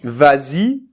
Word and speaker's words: vas-y: Alors pourquoi on dit vas-y? Eh bien là, on rajoute le S, mais c'est juste pour la prononciation.